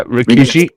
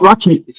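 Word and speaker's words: Rikishi: Rickishi is Rickishi. No, not raky.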